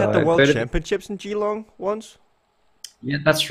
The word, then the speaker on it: Geelong: the Geelong cycling how do you say that Geelong is that correct yeah Geelong yep cheer long